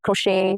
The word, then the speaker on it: crochet: Examples are ballet, buffet, crochet, all have the T's that are silent, okay?